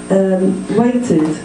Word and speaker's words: waited: Waited is an ID sound. There's an extra syllable.